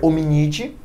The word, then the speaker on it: Hominidae: humanos vai ser hominid se escreve hominidae mas a leitura ficaria omnity e a dos cães